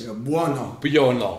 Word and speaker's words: Buono: But, you know, little did we realize that no one could pronounce Buono.